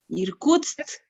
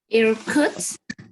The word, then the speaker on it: Irkutsk: Irkutsk. Irkutsk. Yes, bravo. Very good pronunciation.